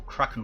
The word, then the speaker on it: Kraken: First fight will be without Kraken Bolts, or Kraken Bolts as you're supposed to say it. I say it like a freaking 8-year-old.